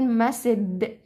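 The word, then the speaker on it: message: مسج مسج مسج مسج خلي بالكم ان المقطع ده اللي هو اي جي اي انا ما بقولش لا بقول ايه خلاص يعني بحط حرف الدي هنا قبل الجي في النطق تمام فبقول مسد مسد خلاص يبقى اسمها طيب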